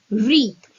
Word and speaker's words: wreath: इसमें जो W है that is silent and the word is wreath.